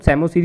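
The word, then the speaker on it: psammosere: Sandy areas का आपने याद रखना है सेमोसीरी। ठीक है, पी आपका साइलेंट होता है तो सेमोसीरी इसका नाम रहेगा।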